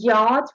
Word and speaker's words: yacht: and yacht. We're not pronouncing C as you say and we're saying bomb, not bomb.